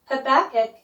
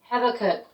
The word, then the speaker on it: Habakkuk: Habakkuk. 하박국. Habakkuk. 하박국. 하박국. Habakkuk. 하박국. 어쨌든 중요한 건 두 번째 액센트가 있는 겁니다.